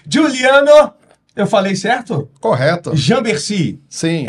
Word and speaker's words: Jamberci: Jambercy. Sim. É desse jeito que pronuncia?